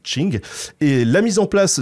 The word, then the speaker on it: Qing: l'empire des Qing, alors ça s'écrit avec un Q comme King, mais en fait c'est Qing, et la mise en